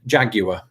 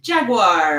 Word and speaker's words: Jaguar: I think I'd say Jaguar. I don't do much with that last vowel. Yeah. Yeah. And you would be Jaguar.